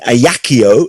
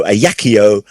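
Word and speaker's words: Ajaccio: napoleon bonaparte was born in a yakio aj a double c i o a yakio on which french island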